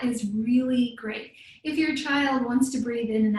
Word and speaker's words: Qi: That's QI, pronounced Chi. Chi is life force energy.